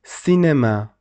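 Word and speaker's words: cinéma: e and and at that time you must pronounce this letter say like Cinema you see say and after that you see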